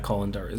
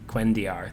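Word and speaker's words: cuendillar: Yeah, the Kolendor. Or not Kolendor. The Quendiar. Quendiar, thank you.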